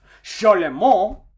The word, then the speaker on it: Charlemagne: this guy's name is charlemagne now technically speaking his name is french so technically speaking his name would be pronounced charlemont however what this guy did